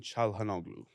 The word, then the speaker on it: Çalhanoğlu: And then the player on Inter, how do you pronounce his last name correctly? Hakan Çalhanoğlu.